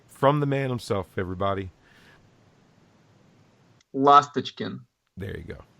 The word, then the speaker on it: Lastochkin: Lastochkin. Did I say it right? Yeah. Close enough. Well, okay. Let's set the record straight from the man himself, everybody. Lastochkin.